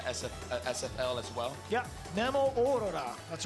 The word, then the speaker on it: Nemo: I think it is the proper way to say it is Nemo.